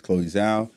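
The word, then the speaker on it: Chloé Zhao: african americans so um i apologize for getting your name wrong her name is chloe zao she's a brilliant director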